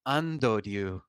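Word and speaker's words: アンドリュー: My name is in Japanese, but it's pronounced Andoryu.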